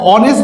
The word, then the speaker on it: honest: এবার দেখো অনেস্ট বলি নাকি হনেস্ট বলি, তো এইস আছে কোথায়, কনসোনেন্টের মধ্যে, কিন্তু উচ্চারণে তো সে এইস এর উচ্চারণ দিতে পারেনি, সে দিয়েছে হচ্ছে ও এর উচ্চারণ, অনেস্ট, তার মানে হচ্ছে